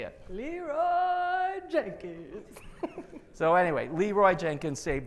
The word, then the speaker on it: Leeroy Jenkins: Leroy Jenkins.